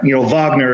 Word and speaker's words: Wagner: It's Wagner, Wagner, if you want to go with the German pronunciation.